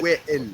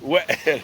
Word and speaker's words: Wael: C'est Wael. Wael. Avec un I.